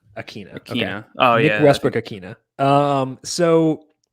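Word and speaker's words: Ikhine: westbrook akine and i'm trying to find this pronunciation here um here we go that's how i always hear it on red zone and stuff akina akina yeah oh yeah um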